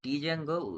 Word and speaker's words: Django: discuss Django Uh basically the word not Django it the pronunciation is Django highle web framework following